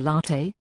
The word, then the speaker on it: latte: The latte, pronounced latte, is the beginner's espresso drink.